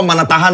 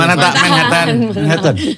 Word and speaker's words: Manhattan: Manhattan apa Manatahan dah bacanya? Manhattan.